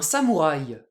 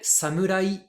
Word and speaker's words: samouraï: circonflexe ni rien un samouraï en japonais samurï Samur nous on dit samouraï du coup on va